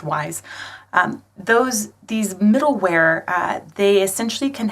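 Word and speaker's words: Wwise: Looks like Wise, but it's just pronounced Wise.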